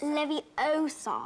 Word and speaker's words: Leviosa: late you're saying it wrong it's Leviosa Professor Hackett perhaps you'd